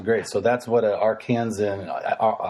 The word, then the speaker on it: Arkansan: An Arkansan? I don't even know. I've never been there, to be honest with you. Is that how they say that? Yeah. I think that's how they say it. Arkansan.